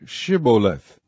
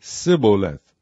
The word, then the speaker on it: Shibboleth: If he said, Nay, then said they unto him, Say Shibboleth. And he said, Sibboleth, for he could not frame to pronounce it right.